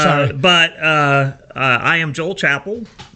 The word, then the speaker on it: Chappell: But I am Joel Chappell. So not Chappelle. Yes, Correct. Okay, Chapel. Chappell. the E is silent.